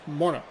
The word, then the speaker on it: Morneau: seem to have a little bit more of like individualized syllables of like Morno, where it's Morno.